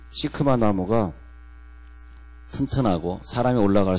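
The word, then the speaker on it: שקמה: 그때 우리는 돌무화과 나무에 올라갔더라 이렇게 읽지만은 히브리 사람은 그렇게 읽지 않고 히브리어 시크마에 올라갔더라. 그렇게 발음한단 말이에요.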